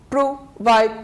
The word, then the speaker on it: provide: improvement then we have the verb to proide provide two syllables so we stress on the second syllable one and two